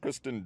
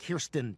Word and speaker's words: Kirsten: He was in Spider-Man with Kristen Dunst. It's not Dunst, it's Dunst. Kirsten Dunst. Kirsten Dunst. Spell it, Joe.